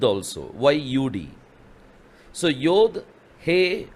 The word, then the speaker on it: yod: the word the first letter Yad nowadays they pronounce it as yod in the ancient Hebrew they were pronounciating as Yad Yad means hand but nowadays see the pronunciation